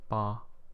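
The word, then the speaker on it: 八: a auspicious number because the pronunciation sounds a bit like um Prosperity so it kind of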